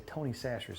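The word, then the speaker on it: Tony Chachere's: I'm sure you've seen the commercials and everybody pronounces it wrong. I've called it everything in the world, but I think it's actually Tony Sacher's.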